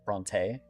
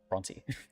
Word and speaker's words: Bronte: Technically with the way that I have spelled it you should be saying Bronte. Um but I tend to say Bronte. I'm breaking the habit though because I want to be consistent because Adriel pronounced it correctly and I'm trying to